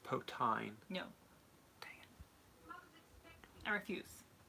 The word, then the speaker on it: poutine: It's pronounced potine.